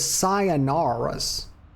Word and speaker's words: Sayonara's: And then right there, her name is Sayonara's. Yes, that's how it's pronounced. It's like sayonara, except it's sayonara's.